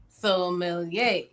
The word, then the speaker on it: sommelier: I always tell people when they're trying to pronounce sommelier to think of like AOK sommelier.